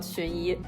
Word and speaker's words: Xunyi: name that I didn't even know how to pronounce at first, because what are these characters? Anyway, it's actually called Xunyi.